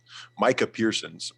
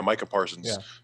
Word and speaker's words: Micah Parsons: i have i have carolina picking up michael micah pearson's mike is it i don't know how to say his name michael parker micah yeah micah parsons um so that and like i said hopefully